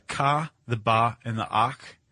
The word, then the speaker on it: Akh: The Ka, the Ba, and the Ak. Ak. Yeah. AKH. Yeah. It's always tricky to pronounce that.